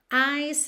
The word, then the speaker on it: ice: Ice is slowly. É interessante você reparar essa junção, certo? Porque ice termina em E, o E não é pronunciado. Então, do C você já vai pro is.